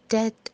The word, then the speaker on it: debt: जी, he have lots of डेट ऑन हिम। I have credit card डेट ऑन मी। डेथ नहीं डेट, ये ट पे रोक दीजिए।